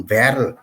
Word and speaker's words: Werl: এখন গ্রিন পার্টির সভাপতি আমার এই শহরের নাম ভ্যারল, ডব্লিউ কে জার্মানির ভি উচ্চারণ করা হয়, WERL।